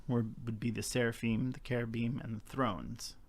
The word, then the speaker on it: cherubim: And so those closest to God would be the seraphim, the cherubim, and the thrones, right? Cherubim. So some people say cherubim. It's cherubim is proper.